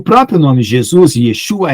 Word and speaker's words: Yeshua: tá na verdade Ah o J é uma letra que apareceu depois do século X tá não existia essa pronúncia J então Jesus era essos tá para poder ficar parecido com yesu Yeshua o meu nome é